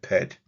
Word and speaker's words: pt: Below Uia is a sacred symbol for sky, which is a biliteral, PT, and we will pronounce that pet.